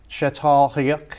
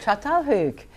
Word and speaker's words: Çatalhöyük: We're gonna venture on now to an area, and I'm gonna pronounce this incorrectly, okay. So you'll have to forgive me. I'll tell you. Okay, it's Çatalhöyük. Çatalhöyük.